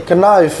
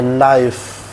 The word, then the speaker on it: knife: I need a knife gitu kan. Jadi K-nya itu dihilangkan. I need a knife.